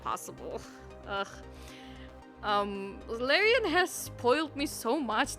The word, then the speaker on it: Larian: Wait, how do you say Larian? Larian? Larian. Oh. Okay. Larian.